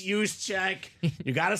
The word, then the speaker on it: Juszczyk: It's Juszczyk.